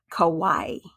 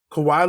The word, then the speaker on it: Kawhi: so I'm gonna come out and say it kawaii Kawhi Leonard Kawhi Leonard I think he's gonna pull